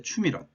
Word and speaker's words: 추밀원: 그 다음에 여기에 추밀원 이렇게 읽어야 됩니다.